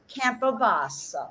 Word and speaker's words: Campobasso: I think you all ought to take a peek tomorrow at Craig's event, and I'm going to pronounce it one more time: Campobasso.